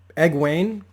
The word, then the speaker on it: Egwene: Egwene, I want to say is how you say